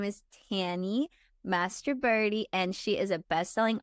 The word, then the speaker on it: Mastroberte: I guessed how to say her last name before we started recording, and it was I said Mastroberte because that's how it's spelled, and she said Mastroberte, which is the American version. But I really think you got something there with Mastroberte.